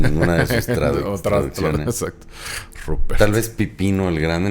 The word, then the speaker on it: Rupert: el hijo se llamaba Ruperto, era un militar muy prestigioso, entonces Carlos lo manda a llamar de Alemania. Ruperto del Rin se llamaba. Pero ¿cómo se dice en alemán? Rupert.